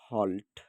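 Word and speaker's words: halt: আবার দেখেন, আমাদের রুলসে ছিল যদি এ বর্ণের পরে যদি এলটি থাকে, আমরা কিন্তু উপরে কিন্তু দেখে আসলাম এ বর্ণের পরে যদি এলটি থাকে, তাহলে আমরা তার উচ্চারণও বাংলা অক্ষর ওকারের মতো করে করব।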